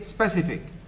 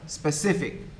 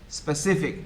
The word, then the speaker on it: specific: wrong it is faculty you say specific stretching the first syllable which is wrong the second syllable should be stress specific specific for example and so